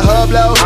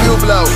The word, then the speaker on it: Hublot: You pronounce that a hublow. Stupid bitch, that's a Hublot.